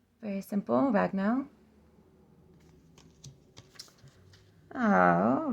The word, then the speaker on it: Ragnell: this one is Owen Olen yep Olen um ragnell very simple ragnell oh ranan I always say ranan yep ranan